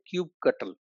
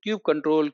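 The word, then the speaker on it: kubectl: or some people say cubectl they give a lot of stress on the ctl ctl ctl so don't get confused all right so cube control cube cuttle cubectl they are all leads to cubectl only right and in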